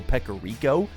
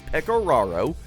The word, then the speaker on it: Pecoraro: I think I called him Joe Pecorico, and I regret it dearly. So, Joe, if you're listening, I'm sorry. It is Pecoraro. That's how you say it.